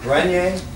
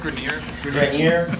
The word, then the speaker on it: Grenier: a poem by Robert Grenier, but I think because he's American, they say Grenier. Grenier. Okay, I say Grenier because it's a French name, and I like the sound.